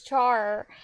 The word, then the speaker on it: char: uh he calls it Char he says Char not care I'm the only one who says care it's Char damn it yeah yeah I was